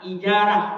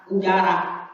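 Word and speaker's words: إجارة: Maka yang dikatakan ijarah yaitu dengan bacanya ijarah dengan kasrah huruf hamzah menurut kata yang masyhur, dan menurut cerita yang lain damuha dengan damahnya ujarah.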